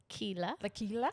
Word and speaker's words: Leila: Leila. Leila. Sounds like tequila.